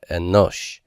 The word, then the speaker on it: Enosh: I'm not going to mark an accent mark here because the accent is going to be on the final syllable.